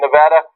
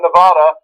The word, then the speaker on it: Nevada: Tuesday we have a Democratic town hall and Nevada caucus coverage starting at 800m Eastern everybody say Nevada not Nevada Nevada Nevada Nevada and get ready for Colorado